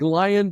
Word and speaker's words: Lion: Your last name is looks like lion, but it's spelled Leon.